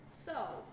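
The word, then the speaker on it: sew: And that is the word so. It is written S-E-W, but it's pronounced so.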